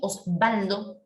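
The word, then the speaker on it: Oswaldo: Cuando usted pronuncia Osvaldo, ¿cómo suena en Osvaldo? Suena como si fuera una B, ¿no?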